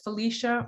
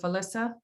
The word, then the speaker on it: Felisa: And do you pronounce it Felicia or Felisa?